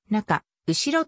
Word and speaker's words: 中後: の体に当たった星の重合中後ろと読む例は日本全土でも